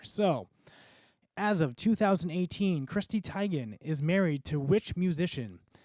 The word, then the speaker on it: Teigen: If you don't have a phone going, Jonathan, I had to look up how to pronounce her name, and it is Teigen. Teigen. It is pronounced Teigen.